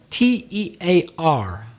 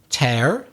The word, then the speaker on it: tear: well it could be tear that sound of the paper yeah being torn torn tear tor torn it's an irregular verb or it could be a drop of water from the eye una lagrima oh oh